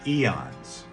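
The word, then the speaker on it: aeon: personified beings are called eons and it's spelled with an a AE o n but it's pronounced Eon just like the measure of time and they created a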